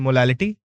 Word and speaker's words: molality: So there is only one difference in letter in both their pronunciation, which is molarity and molality, L and R.